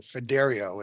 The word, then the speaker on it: Fiderio: I'm a project manager for Fiderio is the way you pronounce that, just so you know.